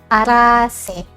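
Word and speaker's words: Araceae: Oke, contoh yang pertama ada famili atau suku arase. Nah, ini tulisannya araseae tapi dibacanya aras ya.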